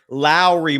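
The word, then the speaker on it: Lauri: of the belief that Lori marinin I'm sorry Lowry marinin uh as Damon Bruce enlighted me the other day his first name is pronounced similar to Mike Lowry from Bad Boy so it's l remarking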